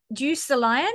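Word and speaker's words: Deucalion: prometheus's son um now i hope i say this right i'm terrible at pronouncing greek greek names um juice the lion i think is how you say prometheus's son's name but from um this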